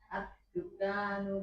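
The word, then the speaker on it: الدكان: Ad-dukkanu maftuhun. Kafnya agak dipanjangkan dikit. Ad-dukkanu maftuhun.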